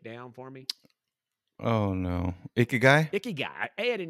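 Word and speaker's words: 生き甲斐: that so that's cool i like that word icky guy laura is that the correct pronunciation yes laura said she confirmed it is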